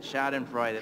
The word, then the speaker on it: Schadenfreude: That's it, Schadenfreude.